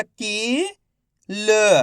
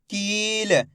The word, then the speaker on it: कील: तो मिलके बन जाएगा कील। इसी तरीके से पढ़ेंगे खींच के कील, ऐसे नहीं पढ़ेंगे किल। अगर आप किल पढ़ दोगे तो छोटी ई की मात्रा का उच्चारण हो जाएगा।